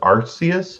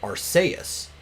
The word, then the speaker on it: Arceus: i always pronounced it arseas because our use because it looks like it's uh a mixture of like the word arc and zeus right and the way